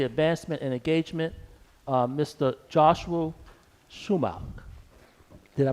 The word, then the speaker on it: Schumacher: Joshua Schumacher. Did I pronounce the last name correctly? Yes. Okay. How you doing, sir? How you doing? I'm doing very well. I'm Joshua Schumacher with the South Carolina Commission for Community Advancement and Engagement.